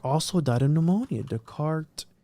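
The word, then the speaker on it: Descartes: want to say that Dart also died of pneumonia decart decart for those people that want to correct me in the email me you're saying it wrong well whatever who cares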